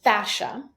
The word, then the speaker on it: fascia: you pronounce that word so the word is fascia so you may hear